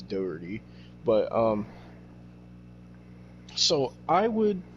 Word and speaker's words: Jack Doherty: pretty sure that's how you say it it's dirty but um so I would get these YouTube